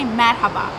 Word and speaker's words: merhaba: So if we would like to say hello, we say merhaba.